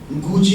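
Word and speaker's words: Gucci: गुची होता है, गक्की नहीं होता है.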